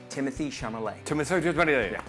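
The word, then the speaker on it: Timothée Chalamet: It's pronounced Timothy Chalamet.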